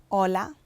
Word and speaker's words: hola: So, H is silent. For example, hola is hola without the H sound.